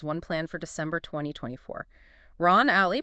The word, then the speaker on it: Alley: Ron Alley, pronounced Ron All, Ron, I got it.